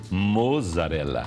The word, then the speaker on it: mozzarella: Se escrever com O e Z, mozzarella. Não posso falar mussarela aqui. Não, está escrito mozzarella, você não vai falar mussarela.